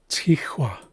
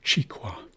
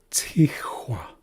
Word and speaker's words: Tihua: So it's Tihua as opposed to Chiqua. Tihua.